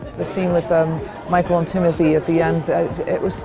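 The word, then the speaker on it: Timothée: It's actually pronounced Timothy is our special guest this evening.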